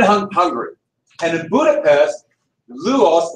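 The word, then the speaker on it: Lajos: It started in Hungary, and in Budapest, Lujos, now that's the actual pronouncing of Louis, but it's Louis Kossuth.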